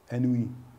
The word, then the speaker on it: ennui: Ennui. What's the proper French way to pronounce it?